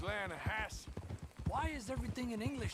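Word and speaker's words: Lannahechee: no no no no the the lana hatchy it runs right near here yeah but it's pronounced land hass why is everything in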